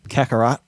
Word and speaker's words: Kakarot: But Dragon Ball Z, how do I pronounce that? Kakarot.